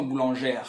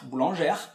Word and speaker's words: boulangère: na terceira do singular, e aí a pronúncia é a mesma, boulangère, boulangère, mas aí eu não colocaria o S, esse S que você vê em nous sommes boulangères.